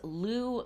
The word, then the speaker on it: Lugh: named after um is one way of pronouncing his name uh and this is Lou the long-handed or long-armed